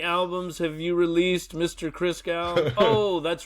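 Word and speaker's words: Christgau: Chris, how do you pronounce it? Chris Gal. Chris Gal. Yes.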